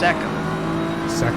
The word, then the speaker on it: Seckham: It's Seckham. Seckham, like David Beckham.